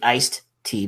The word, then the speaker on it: iced tea: And I say iced tea because I never pronounce the D in iced.